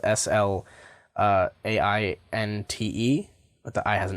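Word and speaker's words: Sláinte: beanie that says slum J on it and it's spelled SL AI n te but the I has an accent over it and it's pronounced Slainte but this this just says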